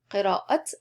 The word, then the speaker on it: قراءة: أحب reading قراءة, and you have to pronounce the t. أحب قراءة what? قراءة القصص.